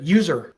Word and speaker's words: usr: uh of the world it is UNIX system resources but we all pronounce it user right USR um this